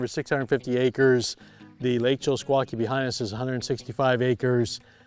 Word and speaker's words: Chillisquaque: Let's start with the lake we're at because I'm going to mispronounce it. What lake is this? Lake Chillisquaque. Chillisquaque.